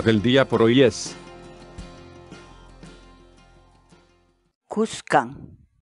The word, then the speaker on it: kuskan: de vídeos en la que te enseñamos a pronunciar algunas palabras en quechua así que nuestra palabra del día por hoy es buscan buscan buscan la palabra quechua es khan en español